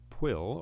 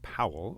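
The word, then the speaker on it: Pwyll: it instead this fellow a pill or powell or actually in welsh is how you say his name uh he falls into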